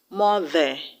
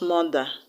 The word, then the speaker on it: mother: The word mother has two syllables, mo and the. So the unstressed syllable in the word is T-H-E-R. So the E-R in mother will have to be pronounced as the schwa sound, mother, not mother, mother.